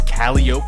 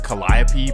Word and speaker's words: Calliope: And that takes us to the famous Calliope Projects. And again, it's supposed to be pronounced Calliope, but this is New Orleans. Well, the Calliope Project Calliope. Now, it actually sounds better the other way, Calliope.